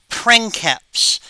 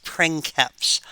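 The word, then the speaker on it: princeps: uh Octavian declaring himself pranks p r i n c e PS pranks um hard C Sound because it's Latin um he declared himself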